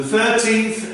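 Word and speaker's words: thirteenth: And the client responds, it's for 2 nights, the 13th and the 14th of this month. Look and listen to the pronunciation here. It's not 30, it's 13th. The 13th is very long.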